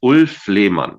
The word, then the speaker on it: Ulff Lehmann: My name is Ulff Lehmann. Yeah, I'm pronouncing it the German way because I am German.